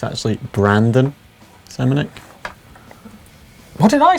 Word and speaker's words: Brandon: Did I say Brendan? Yeah. Yeah. Should we start again? Well, have I been saying that a lot? Yeah. Have I? Why didn't someone tell me? What, I've been saying it wrong all along?